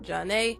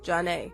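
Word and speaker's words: Zhané: Number 6, pronounced Janae, Janae.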